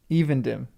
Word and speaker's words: Evendim: Evendim. Okay, long E. Evendim, not Evendim.